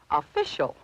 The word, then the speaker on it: official: the a in about the second syllable is pronounced fish and this Mark shows where we should accent the word so the correct pronunciation is official other dictionaries may use